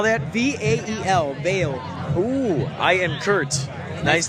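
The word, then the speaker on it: Vael: I'm Vail. How do you spell that? V-A-E-L, Vail.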